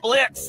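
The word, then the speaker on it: Blitzø: Uh, Blitz? The O is silent.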